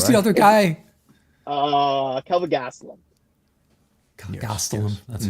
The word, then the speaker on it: Gastelum: up in Saudi the other guy uh Kelvin Gastelum Gast that's correct well I'm I'm I'm in